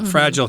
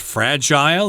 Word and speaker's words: fragile: Uh this could also be pronounced fragile. It depends on who you're talking to. The American pronunciation is fragile, but in the UK and Canada, I think they say fragile.